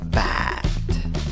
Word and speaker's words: bad: ¿Cuál es la vocal en esta palabra? Es la A que se ríe, la que tira los labios hacia las orejas. ¿Cómo pronuncias la palabra? Bad, bad.